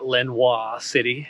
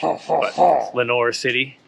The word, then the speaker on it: Lenoir City: pick up along the way is how to pronounce places usually after saying it wrong for a couple days uh so it's not lenois city as I thought it's l n o i